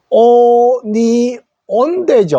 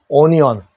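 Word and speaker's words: onion: 5를 읽으면 어떻게 돼요 오니 온대죠 오니온 그죠 어니언 onnyone 가는 말로 읽으면 로마자인데 영어식으로는 오어가 아니고 어어입니다 그러니까 학생들이 자음을 알고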